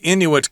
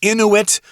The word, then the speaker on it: Inuit: to talk about the Inuit culture you can say Inuit or Inuit uh both are acceptable although for the exact